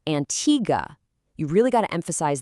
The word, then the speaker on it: Antigua: It is not Antigua like the word for water in Spanish. It's Antigga.